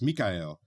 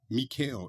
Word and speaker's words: Mikhail: My name has 3 syllables. Mikhail, not Mikhail.